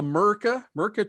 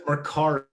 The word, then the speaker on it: Mercari: There's something called the Merca Texas Bowl. I may be mispronouncing that. That's Mercari.